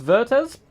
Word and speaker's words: Werthez: It's Werthez. Werthez bespells with a W. Okay, so like the W is silent. Or no, it's just like, it sounds like a V.